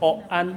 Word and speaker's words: Oan: Ada Pak On, bacanya Pak Owan atau Pak On? Pak Oan.